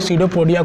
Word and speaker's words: pseudopodia: Pseudopodia जो जिसमें P silent है, and false feet. pseudopodia and false feet, मतलब यहाँ पे एंड नहीं लिखेंगे, यहाँ पे और लिखेंगे. इसको हम लोग सीडोपोडिया को फॉल्स फीट नाम से भी जानते हैं.